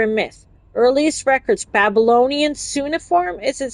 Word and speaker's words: cuneiform: Earliest records, Babylonian cuneiform. Is it cuneiform?